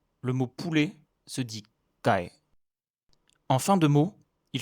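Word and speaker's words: ไก่: Le mot poulet se dit kai. En fin de mot, il se prononce comme un K, mais il est sec et non relâché, et il met fin au son.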